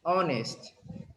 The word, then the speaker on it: honest: honest i was honest honest dishonesty some cases in english you pronounce the age like j right honest like this house you pronounce the age but not here this is honest not honest honest right um do